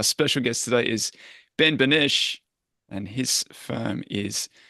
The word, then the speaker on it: Beneche: Our special guest today is Ben Beneche, and his firm is Tourbillon Partners. How did I go with that pronunciation, Ben?